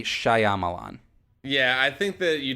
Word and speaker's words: Shyamalan: it's just Shyamalan right Shyamalan I think so so you don't pronounce that the Y um because it's it's phonetically Shyamalan yeah I think that